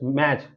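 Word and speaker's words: match: यहां पर हम देखेंगे जब किसी शब्द में यदि टी के बाद सी एच आए तो टी हमेशा साइलेंट होता है यानी टी के बाद सी एच आना चाहिए जैसे कि यहां पर एग्जांपल में लिखा है एम ए टी सी एच मैच मैच का मतलब होता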